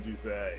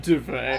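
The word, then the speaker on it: Duvey: Heather, you may know my cousin Carpet, but I'm Duvet. I'm Duvet. Uh, The T is silent.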